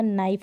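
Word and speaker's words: knife: गया नीड हो गया नाइफ हो गया ठीक हो तो के को तो चाहे भूल ही जाए और उसके बाद वाले स्पेलिंग से आप प्रोनाउंस करें लेकिन जब भी ये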